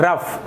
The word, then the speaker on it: rough: पढ़ेंगे, इसका सामान्य उच्चारण होता है, जो सही उच्चारण होता है वो होता है रफ।